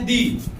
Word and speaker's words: the: Pronunciation के बारे में तो प्रोनाउंस्ड एज दी, ठीक है। दी के रूप में आप दी बोलेंगे, उसे द को क्या पढ़ेंगे? दी पढ़ेंगे।